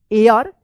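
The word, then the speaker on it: heir: true एयर एच ई आई आर क्या होगा एयर इसको हियर मत पढ़िएगा एयर पढ़ेंगे एच यहां पे जो है ना साइलेंट रहेगा of this village the ओल्ड मैन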